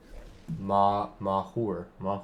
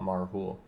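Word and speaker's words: Mauhúr: Urkai, okay, so Malhur, I guess is the way you'd pronounce it. He's actually just as good as a March from the Black Gate. We'll swing in. Now this becomes a 3/3 because of Marhul. Mahur, not Marhul.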